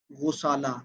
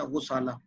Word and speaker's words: غسالہ: کی جاتی ہے غسالہ۔ غسالہ یہ اصل تلفظ ہے، غائن کے اوپر پیش ہے، غسالہ، غسالۃ الماء۔ مثلا آپ